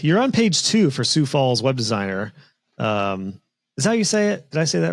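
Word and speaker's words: Sioux Falls: a quick check you're on page two for sou Falls web designer um is that how you say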